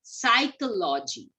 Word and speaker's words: psychology: So P is silent here. We say it as psychology.